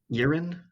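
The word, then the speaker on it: Eryn: father's grave is in the elven city of yirin it's spelled e-r-y-n isn't that where nakaroth's other target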